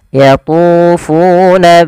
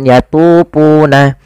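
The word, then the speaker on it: يَطُوفُونَ: ada dah bertemu wau hati-hati juga dalam melafalkan jangan diganti dengan yatuna jangan diganti dengan p kemudian bainaha pada hafal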